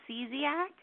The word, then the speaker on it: Szczesiak: It's pronounced Szczesiak. Szczesiak. See, yes. I still massacred that. And I even wrote it down when I heard Garrett pronounce it. Spelled it out for him in very easy terms with a C, a Z, and an ack.